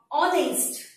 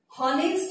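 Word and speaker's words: honest: यहाँ पे ऑनेस्ट, ऑ साउंड है, हॉनेस्ट नहीं बोलते हैं हम इसको, एच है, फिर भी हम उसका जो उच्चारण है या उसका प्रोनाउंसिएशन जो है वो हम हॉनेस्ट नहीं करते हैं, ऑनेस्ट करते हैं, ऑ साउंड।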